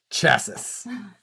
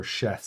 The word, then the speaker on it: chassis: escape like that's so finally someone pronounced chassis correctly chassis or chasse if it's fancy oh yeah are you